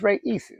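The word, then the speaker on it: Raíces: But, I pulled up some videos on how to pronounce the name and it's Reyes.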